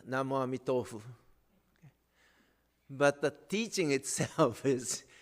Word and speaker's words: Namo Amitofu: But they don't say Namo Amida Butsu. They say Namo Amitofu. The pronunciation is a little different. Same Chinese characters they use, but they pronounce it Namo Amitofu.